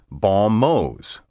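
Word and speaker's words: bons mots: m-o-t the plural spelled b-o-n-s space m-o-t-s is pronounced balmose baumos are witty or clever remarks a law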